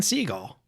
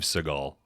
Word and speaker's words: Seagal: to summon him tonight Steven seagull oh I believe it's Steve Seagal on this one do